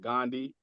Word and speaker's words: Gun Dei: So, it's actually, yeah, it's spelled Gundi, but it's actually pronounced Gandhi.